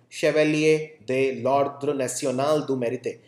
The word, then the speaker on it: Chevalier de l'Ordre National du Mérite: I can speak French, so I can pronounce it correctly. Chevalier de l'Ordre National du Mérite, which is called Knight in the National Order of Merit Award.